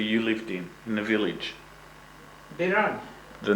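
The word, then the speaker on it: Biranj: Biran. The name of the village was Birain. Huh? Birain? Yeah, Biran. B-I-R-A-N-J. See, N-J pronounced Nya.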